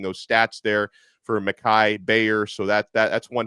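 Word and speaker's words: Gbayor: think his visit is starting today Sunday mikai Bayer it's spelled spelled very strangely GB a yo R but it's pronounced Bayer uh he's visiting right now 6'2 230 pound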